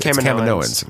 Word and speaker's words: Kaminoans: Kaminoans. Yeah, that's how the right way to pronounce it is.